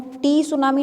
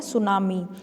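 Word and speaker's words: tsunami: लिखते हैं तो उसमें टी क्या होता है, साइलेंट होता है, उसको हम टी सुनामी नहीं बोलेंगे, तो टी साइलेंट करके हम इसको क्या बोलते हैं, सुनामी, तो इसका नेम होता है सुनामी।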